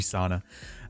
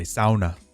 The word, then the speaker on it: sauna: And if you have any free sauna, or I should say sauna, I think I said it. That's how you say it a little bit better in Scandinavian countries.